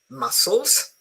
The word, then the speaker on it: muscles: Le cozze e muscoli in English, there is no difference in pronunciation because the C is completely silent.